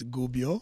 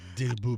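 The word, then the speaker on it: Gubbio: my uh correct my absolutely astonishingly bad Italian pronunciations of the of the clubs so Gubio yeah there's no D and Gio it's Gubio i didn't did I didn't say Dubio i said Gubio you said Gubio okay whatever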